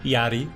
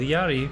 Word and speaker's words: Jari: All right, so Wintersun was founded by Jari, which is pronounced like my name, Yeri, with a slight rolling R.